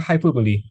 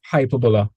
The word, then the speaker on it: hyperbola: That sounds like that sounds like the word in English. That's uh what's it? Hyperboly. That's when like you're exaggerating. Yeah, it does sound like a hyperbole, but it's hyperbola.